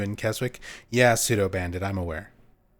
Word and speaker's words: Keswick: You don't pronounce the W in Keswick?